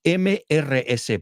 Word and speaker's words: Mrs.: So this one, MRS punto, y se pronuncia Mrs. Okay? Mrs. Jones, here's a good way to remember it. I always miss Miss Roberts.